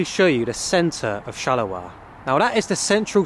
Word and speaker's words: Charleroi: Charleroi. Charleroi. Charleroi, with that French accent.